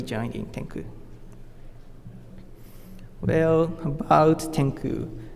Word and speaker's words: XCOO: Well, about Tenku, as this logo shows, XCOO is pronounced as Tenku.